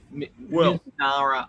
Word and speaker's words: Mizunara: I'm going to pronounce it wrong. Mizunara Oak. Yes. Missouri. No, Japanese oak. Japanese oak. Japanese oak. Mizunara oak.